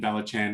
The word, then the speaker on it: Valachan: so uh kalikari niranjan i did and then balachan is what strix did oh that's right that's